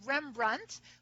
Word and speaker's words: Rembrandt: It was simply written as Rembrandt, which would be pronounced either way. It's identical pronunciation if you add the D or take it away.